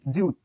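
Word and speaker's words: 지읒: এই বর্ণের উচ্চারণ জিউত। জিউত, জিওত বা জিউত, জিউত। প্রথম স্টেপে ঝ বা বকরি জ, জ বেশি উচ্চারিত হয়, ঝ উচ্চারিত হয়, মাঝে বকরি জ, নিচে ত।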